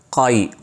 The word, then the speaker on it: قائی: اس قبیلے کا نام تھا قائی، بعض لوگ کائی بھی کہتے ہیں لیکن صحیح تلفظ کا موٹے قاف کے ساتھ ہے۔ اور قبیلے کے سردار